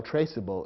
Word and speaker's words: traceable: silent E from traceable the word might look as though it should be pronounced trackable which would be incorrect so the silent needs